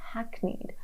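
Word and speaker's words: hackneyed: word term Hacknneed this the pronunciation is hackneed.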